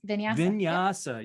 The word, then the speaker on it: vinyasa: incredible incredible environment now this is a powerful vinyasa is that how you pronounce it katie yes vinyasa yoga meditation studio they've got a 365 program